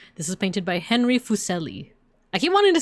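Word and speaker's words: Fuseli: This is painted by Henry Fucelli. I keep wanting to say Fucelli, but the the pronunciation says it's like zel because it's like German.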